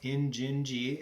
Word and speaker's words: Injinji: i N I and J I and it's pronounced in gingy and is a specialty toe sock company based